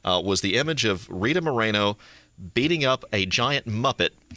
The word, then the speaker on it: Moreno: as well the wonderful miss rita moreno miss moreno it's a pleasure how are you today i'm